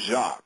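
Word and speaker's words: Jacque: okay all right the first name is jacqu and it's spelled the French way so that's going to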